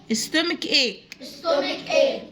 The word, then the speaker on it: stomach: المغص بنقول عليه بالانجلش stomach ache، stomach ache. في stomach السي بننطقه كي، صوت الك، وفي كلمة ايه برضو السي كي.